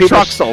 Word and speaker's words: Truxell: It says, there's no W in my name, announcer. Why is my name so hard to pronounce for those guys with the trucks with the I sound at the end?